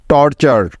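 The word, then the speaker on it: torture: আর এই ওয়ার্ড প্যাটার্নটির উচ্চারণ সবসময় হয় চার এর মতো, মনে আছে তো সবার? তাই টি ইউ আর ই এর পরিবর্তে নিয়ে নিব চার, তাহলে এই শব্দটির উচ্চারণ হবে টি উ আর টর এবং টি ইউ আর ই চার, টর্চার, টর্চার। টর্চার অর্থ হলো অত্যাচার বা নির্যাতন।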